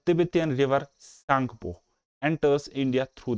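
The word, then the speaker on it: Tsangpo: इसको तिब्बत में सांगपो कहा जाता है, टी इज साइलेंट हेयर, और ये इंडिया में घुस जाता है कहाँ से?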